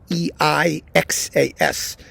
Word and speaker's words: Seixas: That's Seixas, in case you're wondering how badly I pronounced it, and whose music sounds a lot like Scarlatti's.